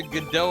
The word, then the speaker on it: Godot: Why'd you have to Godot and make things so complicated? The O's are sounds too. Oh, so it's pronounced did it.